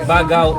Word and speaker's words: Baggao: canyon dito sa may bagao Isabela Paano po pronounce bag bag bagao pala bago Isabela ah Cagayan